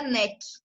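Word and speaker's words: Knack: Então, a primeira é amplamente divulgada, que é a manobra NEC, que se escreve KNAC, igual está ali no artigo.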